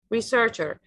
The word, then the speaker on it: researcher: information about it researcher researcher the stress is on the second syllable here on three syllables the stress is on the second one researcher researcher the next